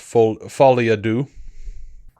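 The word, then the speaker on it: Folie à Deux: joker two basically uh i believe it's pronounced folly ado i can't i'll do the accent but look it's french that's as close as you're going to get i know it'll it'll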